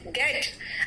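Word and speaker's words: debt: डेप्थ, बेटा कई लोग डेप्थ बोलते हैं, इट इज नॉट डेप्थ, इट इज डेट, इट इज डेट, एंड इट इज नॉट डेप्टर, इट इज डेटर।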